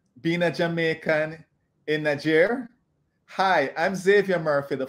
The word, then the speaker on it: Niger: in Niger welcome Antoinette hopefully I got the name of the country pronounced like how they pronounce it there and hopefully I got